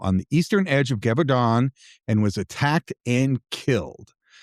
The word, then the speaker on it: Gévaudan: Gévaudan is how I'm going to pronounce it. At least as close as I can get from the Google pronunciation guide.